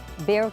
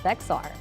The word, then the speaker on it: Bexar: Now, that recording mispronounces Bexar County. He pronounced it Bexar.